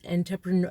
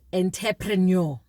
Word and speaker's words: entrepreneur: all all the years the word entrepreneur has I've always pronounced it as enterpreneur so now I actually